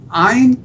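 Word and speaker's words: עין: Ayin, it comes from deep down here.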